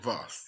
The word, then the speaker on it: Voss: Oh, Voss. Voss. Yes. So Voss rhymes with boss.